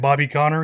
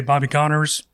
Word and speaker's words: Bobby Connor: Everybody would talk about him like instead of saying Bobby Connor he'd say Bobby Connors. Oh my gosh. Like adding a syllable. the end. S on the end.